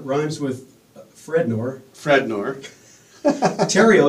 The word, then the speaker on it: Therriault: times with fredor fredor Tero you say stereo but leave off the S did you know that